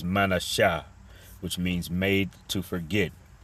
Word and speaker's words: Manasseh: And like I said, I don't know if I pronounced it, but in the Hebrew, Manasseh is Manasha, which means made to forget.